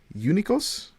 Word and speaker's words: Eunikos: I'm joined by Mya Berkaman here from the team name is GAC Eunikos. Is that how it's pronounced?